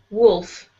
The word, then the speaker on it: wolf: Wolf. Wolf. Mm-hmm. So there is an L sound in there, but it's very, very soft.